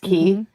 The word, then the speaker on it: quay: is just it's spelled like quay but it's pronounced key.